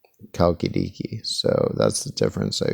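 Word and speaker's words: Chalkidiki: the other one is spelled with a CH but it's pronounced kalkidiki so that's the difference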